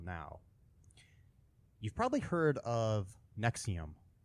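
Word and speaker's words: NXIVM: no anyway okay um Nexium is NX I VM is how it's spelled it is a uh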